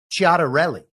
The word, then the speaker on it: Ciattarelli: studied in college and assume the correct Italian pronunciation here is Ciattarelli.